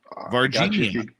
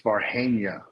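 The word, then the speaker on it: Varginha: to pronounce this wrong, Virginia. Virginia? No, it's Varhania.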